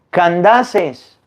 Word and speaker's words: Candaces: se dice etíope candece no se dice candes se dice candaces Ah pues entonces El